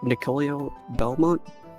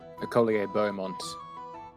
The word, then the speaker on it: Nicolier Beaumont: Was it Nicolio Belmont? I forgot how to pronounce his name. Nicolier Beaumont. Okay, Nicolier Beaumont has been...